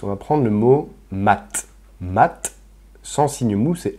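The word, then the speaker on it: мать: Maintenant, si on rajoute un signe mou à ce mot-là, mat, ça ramollit la fin du T. Mat.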